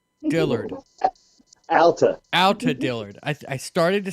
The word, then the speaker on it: Alta: Alta.